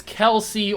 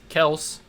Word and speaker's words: Kelce: I'm assuming others will be Aaron Donald, Travis Kelce, or Travis Kels, however you want to pronounce his name.